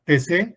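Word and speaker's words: Taizé: Se llama TC, se escribe Taic y ese es un lugar de pues donde van muchos jóvenes, sobre todo es para jóvenes.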